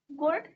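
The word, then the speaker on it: could: reward reward दो हु कुड answer कुड बेटा L silent रहता है आंसर द क्वेश्चन द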